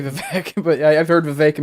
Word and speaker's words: Vivek: Gary says it's Vivek like cake.